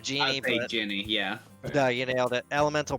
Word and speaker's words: genie: she actually nailed it i would say ginny instead of jeannie yeah you nailed it